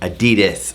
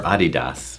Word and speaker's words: Adidas: are giving you our Adidas or Adidas how do you pronounce it just say Adidas sounds like you're saying croissant if we say it